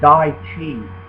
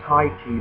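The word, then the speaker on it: 太极: In Qi, that's where you get the word Dai Qi. A lot of people mispronounce it Tai Chi, but in modern Chinese, the T is a D sound.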